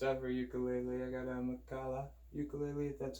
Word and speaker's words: Makala: is my first ever ukulele I got a makalah ukulele it that's how you pronounce it welcome not butchering the name like